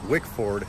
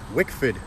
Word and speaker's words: Wickford: it might be in wickford rhode island the locals pronounce that wikfid by the way sorry rhode islanders if that's wrong i'm a rhode islander